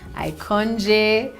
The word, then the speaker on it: IKOJN: it around you get icon and then the j is silent so it's supposed to